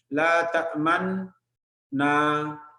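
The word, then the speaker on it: لا تأمنّا: La ta'man na. After ta'man, round up your lips a little bit.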